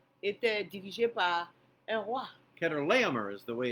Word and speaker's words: Chedorlaomer: Ilan, qui fait partie de l'Iran, était dirigé par un roi, Kedorlaomer is the way it's pronounced.